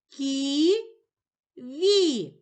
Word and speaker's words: ківі: поділимо слово на склади кі ві у слові ківі два склади визначимо наголос покличемо слово ківі наголошений перший склад кі наголошений голосний і А зараз пропоную тобі